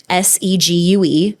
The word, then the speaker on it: Segue: which it's funny because a lot of people don't know how to say it, but it's like an English word in the dictionary. It's Segue. It's not the things that you ride on a Segway, but the U has a line over it.